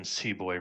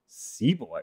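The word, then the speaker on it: sepoy: years tied up in seab booy rebellions seaboy rebellions yeah it's uh Indian pronunciation essentially the old East Indian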